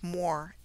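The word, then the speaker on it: Muir: Moore near Forest Scotland more muui R is pronounced more m o o r like in the Wason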